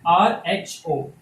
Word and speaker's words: rho: We pronounce it RHO, rho.